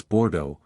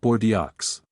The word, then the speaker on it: Bordeaux: resist a pointed correction it's Bordeaux sir not bords the neighboring table a